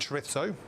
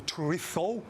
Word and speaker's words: chorizo: I love red onion and chorizo. Or chorizo, if you're going to say it correctly.